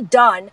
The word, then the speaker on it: DUN: who didn't know it, So when you see Done, it's spelled D-U-N, like the mayfly.